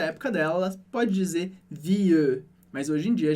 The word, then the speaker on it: vie: Então eu digo je change de vie, mas aí de novo em vie, esse E não é pronunciado. Eu não falo vieux. Essa era uma pronúncia bem antiga do francês. Aqui a gente diz vie.